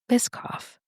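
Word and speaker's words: Biscoff: By the way, it looks like it is Bisoff. Okay. It's it's it's saying bis as in biscuit.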